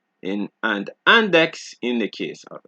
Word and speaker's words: index: Exceptions being six and index, right?